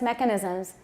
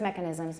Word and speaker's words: mechanisms: stress types don't stress mechanisms and when you do stress mechanisms make sure the stress is on the first syllable mechanisms and we're also going